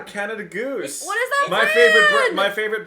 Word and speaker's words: Canada Goose: Canada Goose? Canada Goose? Am I saying it right? Canadian Goose? What the fuck is she talking about? Yeah, Canada Goose.